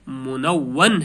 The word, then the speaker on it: منون: جائے گا، جیسے منون، یعنی واو کو نون کے ساتھ پہلے پڑھا جاتا ہے اور اس کے بعد واو کو الگ پڑھا جاتا ہے، یعنی اس کا صحیح تلفظ جو ہے منون ہے۔ کیا ہے؟